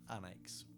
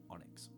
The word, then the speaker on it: Onyx: um I have got the Onyx oh or pronounced anx because is I NX it's actually spell pronounced Onyx okay I brought this